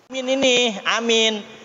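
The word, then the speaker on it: آمين: Amin itu adalah apa? Termasuk sunnah apa? Sunnah hayat, ya, sunnah hayat. Qaulu amin, a-nya panjang, kita udah ketahui 6 harokat.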